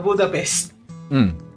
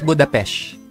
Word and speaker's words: Budapest: So, may laban sa Budapest. Budapest. Don't say it like that. That's how they say it. It's Budapest. Whatever.